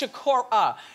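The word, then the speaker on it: Sikora: show that somebody corrected me about pronouncing their name wrong, which I do a lot, as you all know, because you watch. It's Shakur.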